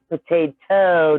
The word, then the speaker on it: potato: Yeah, because if it ends in there you go, that means potato doesn't have the toe on it. It rhymes with go and not TOE, so it's just TO.